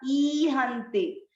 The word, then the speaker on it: ईहन्ते: जब यहाँ तीसरे चरण में पहला शब्द था ईहन्ते, ई की मात्रा बड़ी थी। बड़ी मात्रा जब भी हो आपको उसको उच्चारण में अधिक समय देना है, थोड़े देर लंबा खींचना है।